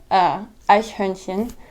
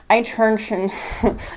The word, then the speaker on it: Eichhörnchen: And it's Eichhörnchen. But that word is so hard to pronounce when you're first learning it, so it sounds like Eichhörnchen. It just sounds terrible.